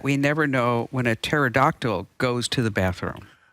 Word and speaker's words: pterodactyl: never know when a pterodactyl goes to the bathroom because the p is silent I mean go ahead